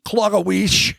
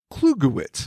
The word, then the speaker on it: Klugowitz: I almost said Klogowicz, Yep, no. but that's not it. Last name is pronounced Klugowitz.